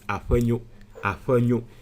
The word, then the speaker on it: Afenyo: I know the right pronunciation, which is Afenyo.